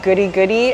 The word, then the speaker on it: Guri Guri: They named it Guri Guri, actually, like goodies. Goodies, but because they didn't know how to say it and they kind of adapted the name, it became Guri Guri.